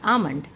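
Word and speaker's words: almond: तो इस तरीके से इसका प्रोनाउंसिएशन होता है हाफ, और ऊपर वाले का होता है आमंड।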